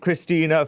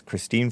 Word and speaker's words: Christine: They were saying stupid stuff like, we believe Christina Ford. I think it's Christine Ford, but I don't know. I had to put an extra syllable in there.